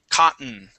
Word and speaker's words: cotton: the word cotton okay there's two ways to pronounce the word you can pronounce those double T's as a t sound or or the double T's can be silent and we say cotton okay see how I